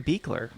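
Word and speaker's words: Buechler: me i'd feel bad look at my last name and pronounce it right every video so it's beakler yeah i do do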